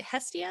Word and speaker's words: Hestia: And you have to tell me, is it Hestia? Is that how you say it? Yeah, so basically, Hestia is the goddess of home, the ancient goddess of home, the Greek goddess.